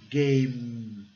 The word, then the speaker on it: game: A letra final é E. Né? Mas como ela é silenciosa, o som final é do M. E o som de M é game.